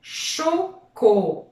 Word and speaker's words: chocolat: Alors, c'était le mot chocolat. La syllabe co, c'est la deuxième syllabe parce que chaud, co est là. Et la lettre muette, c'était bien sûr le T qu'on ne prononce pas.